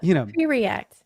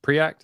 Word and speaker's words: Preact: What do you think about pre-React? What's that? Pre-React, isn't that how you pronounce it? Pre-Act, I think.